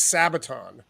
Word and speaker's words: Sabaton: their stage setup so the band is sabaton is that am i pronouncing that right jim yes spot on a saboteur it's a